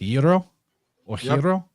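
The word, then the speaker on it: gyro: at the front now when in Greek you see the letter gamma at the beginning of a word it typically functions as a y so it's like the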